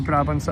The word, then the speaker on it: Brabant: It sounds so strange in Dutch, Brabant. It's Brabant, the Duchy of Brabant.